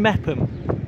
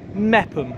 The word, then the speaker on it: Meopham: good morning from meam meam Silent o silent h when I was doing